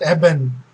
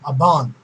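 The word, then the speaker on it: אבן: So you get the Strong's word they say it eben, so which is incorrect because the aleph is the a, so aban. So that's how it is correctly pronounced as.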